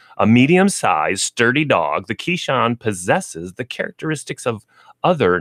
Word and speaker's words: Keeshond: one of the breeds Keshawn is spelled ke e sh o and D if you're like going wait what is he saying so we have one Keshawn as we're doing this